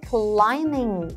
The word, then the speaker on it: climbing: 자 그 다음 climbing 이 친구는 특히 발음하실 때 B 사운드가 없죠. climbing 아닙니다.